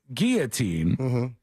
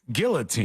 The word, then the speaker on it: guillotine: here's an example the the word guillotin m is actually I believe pronounced Guillotine yeah it is but if I say